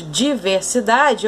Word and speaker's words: diversidade: A mais forte, então, de diversidade, ó, é a penúltima sílaba.